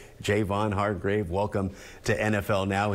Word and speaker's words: Javon: Hargrave Jayvon I think there's been a lot of years have gone by mispronouncing your name we've all been saying Javon for years what finally took it for you to say hey my name is Jayvon Jayvon Hargrave nah I